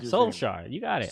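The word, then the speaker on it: Solskjær: I could never pronounce it. Solskjaer. You got it. Solskjaer.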